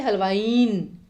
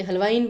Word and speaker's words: हलवाइन: तो यहाँ पर भी क्या होगा हलवाइन, हम ये नहीं कहते हलवाइन, ऐसा नहीं बोलते, हलवाइन बोलते हैं।